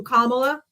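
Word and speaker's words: Kamala: If you can't say her name right after I told you Kamla, Kamla, Kamla, Kamla, and you keep saying her name wrong, off.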